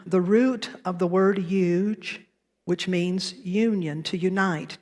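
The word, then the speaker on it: yuj: u j it's pronounced huge like huge but remove the H if you would huge what you may or may not know is that in its translation the root of the word huge which means Union to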